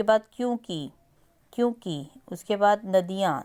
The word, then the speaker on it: नदियां: क्योंकि क्योंकि उसके बाद नदियां नदियां में द प छोटी की साउंड है नदियां नेक्स्ट आप देखिए ग